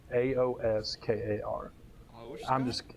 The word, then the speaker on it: Aoskar: It's Aoskar is how you spell it. Aoskar. I'm just going to say Oscar.